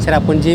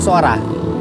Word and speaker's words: Sohra: सोरा please area to लोग चेरापुंजी बोलता है लेकिन हम लोग सोहरा एस ओ एच आर ए सोरा चेरापूंजी का दूसरा नाम है सोहरा और आज यहां के लोकल्स इसे सोहरा कह के ही बोलते हैं।